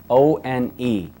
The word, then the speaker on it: one: word one for example o n e now when you pronounce the word one it sounds like it should start with a W doesn't it but it